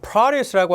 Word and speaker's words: produce: 여러분들 produce라고 앞에 액센트를 때렸어요. 농산물이 되는 거고요.